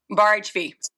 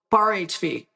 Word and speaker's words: Bar HV: Is it the HV? Is it HV Bar? How do you say the brand? Bar HV. Bar HV. Yes, ma'am.